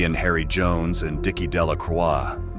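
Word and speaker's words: Delacroix: Harry Jones and Dicky delaca the villagers pronounced this name delacroy eventually made a great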